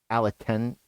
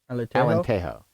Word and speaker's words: Alentejo: I'm going to pronounce this wrong, Refugio do Aleteno? Alenteno. I tried to pronounce this out earlier, and I thought I had this one, and I didn't say it like it. Tejo. Alentejo.